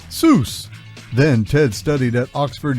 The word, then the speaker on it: Seuss: here's a fun fact soos is supposed to rhyme with voice not goose the doctor never minded that people mispronounced it a creative kid dr